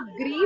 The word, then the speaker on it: gris: जैसे आप ग्री बोल रहे हो ना, तो ग नहीं है, ग्री है ये, ग्री.